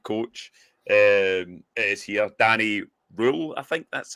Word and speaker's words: Röhl: Rule. I did see he had an interview with Sheffield Wednesday I think it was and they asked him how do you pronounce his name and it was Rule R.